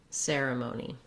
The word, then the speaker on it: ceremony: Notice how the ser part of the word is long. Because it's stressed, we hold that longer and use the clear vowel. Then the amoni syllables are quicker, lighter, and they may have a reduced vowel. The letter E says vowel schwa, or you might also see it with an I sound, ceremony.